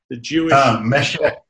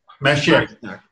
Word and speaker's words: Mashiach: Mashiach. Mashiach.